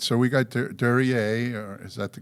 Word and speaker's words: Duryea: All right, so we got Duryea, or is that the correct pronunciation?